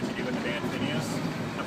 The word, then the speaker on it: Phinehas: are and what you do with the band Phinehas. I'm pronouncing that right?